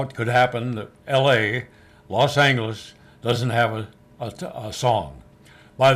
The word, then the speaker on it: Los Angeles: Even years later, when I worked there myself, that clock still said Los Angeles with a hard G on the clock, so you'd be sure to say it the right way.